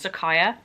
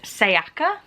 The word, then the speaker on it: Sayaka: I realised I've been pronouncing the author's name wrong because I literally read that as Sakaya. The Y and the K are in different places. I'm gonna go with Sayaka Murata.